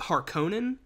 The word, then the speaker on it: Harkonnen: in this film do baron harkin well which they pronounce it harkonnen whatever at no point